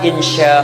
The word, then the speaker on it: insya: Ditulis begini, Anda baca inso misalnya, itu salah. Dibaca insa, itu salah.